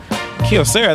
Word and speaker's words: Kyocera: right Kyocera everybody knows Kyocera Kyocera that's how you say it yeah that's the new